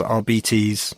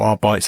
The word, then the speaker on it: Arbites: So yes, the Adeptus RBTs or Arbites, I think I used to call them as a kid, but I presume now Custodes RBTs is how it's correctly pronounced.